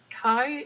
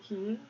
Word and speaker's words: Kai: Kai is awesome, but he doesn't pronounce his name Key, which triggers me.